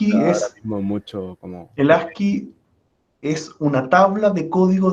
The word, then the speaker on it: ASCII: esto del ¿cómo se pronuncia? ASCII, ASCII.